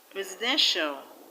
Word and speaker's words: residential: In the word residential, the stress is on den. Residential.